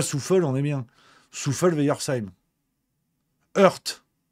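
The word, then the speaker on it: Hoerdt: Heurt. Ah, tu sais, heurt. Tu dis, bah oui, mais Rémi, c'est un verbe en langue française. Alors, quand ça s'écrit H-O-E-R-D-T, non, c'est pas un verbe. C'est une ville.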